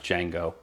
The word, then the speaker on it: Django: into it django unchained django or djing it's pronounced django you're okay with the n word right that's